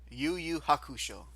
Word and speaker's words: Yu Yu Hakusho: I think I don't remember how you pronounce it again. Yu Yu Hakusho.